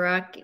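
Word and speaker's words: Rak: Rock, that's spelled R-A-K, pronounced R-O-C-K.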